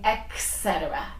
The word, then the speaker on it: etc: that except you're eccentric a common mistake you're saying etc uh-huh and that's a very common mistake it etc etc etc not XS ETS oh it's yes oh exit like okay like you say ETA so it's s don't say etc it's etc etc etc when you give